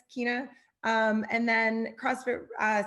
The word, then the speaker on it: China: i guess or profile is coach uh s kinah and and you said my name right which is great i know you know i would have totally pronounced it yeah so it's coach s keena um and then crossfit uh sorry mountain made